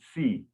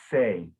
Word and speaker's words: se: The word there spelled S-E, you're pronouncing it a little bit like yes, like S-I-M. So you said C, but it's say. So the S-E is then say.